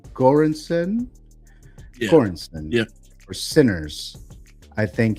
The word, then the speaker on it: Göransson: So I do think Ludwig, how do you pronounce the last name? Göransson? Yeah. Göransson.